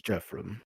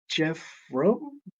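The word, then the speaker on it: Geofram: Church of the platinum dragon my name is Jeff from Jeff from how do you spell that a g-e-o-f-r-a-m I am told I uh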